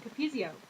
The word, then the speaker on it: Capezio: Oh, Capezio.